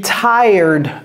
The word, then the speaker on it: tired: To be tired of. Et vous voyez, j'ai fatigué, c'est tired. Ce n'est pas tired. Ne prononcez pas le R. C'est comme si il y avait un Y ici. Tired.